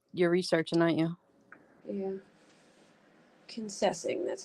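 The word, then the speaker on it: Kingsessing: Kennessing, that's how you say it.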